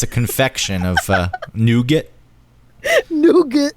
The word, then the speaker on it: nougat: Nougat. Nougat. In the UK, they pronounce it nougat. Oh, do they? Nougat. In the UK. Why'd you make it French? Because nougat. No, maybe that is the French pronunciation.